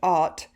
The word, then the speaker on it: ought: hate it is that o-u-g-h-t pronounced art is this time it's a very long word to spell it's a very short word to say most people miss it